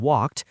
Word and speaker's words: walked: And that ed has three sounds. T as in walked, d as in played, and id as in wanted.